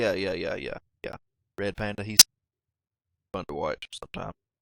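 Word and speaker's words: ReadPanda: called read Panda but it's pronounced like red panda like re e a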